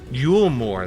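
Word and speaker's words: Eulmore: Yulmore, that's how you say it.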